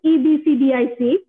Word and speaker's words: EBCDIC: সি, এফসিডিক code নামের মধ্যে দেখো, আমি এটাকে এফসিডিক বলি, আসলে উচ্চারণটা কিন্তু EBCDIC পুরোটা বলতে হয়, তো আমি এটাকে সংক্ষেপ করে এফসিডিক বলি আর কি।